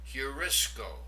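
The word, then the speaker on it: εὑρίσκω: The second word, notice the rough breathing over the opening diphthong. Heurisco, I find.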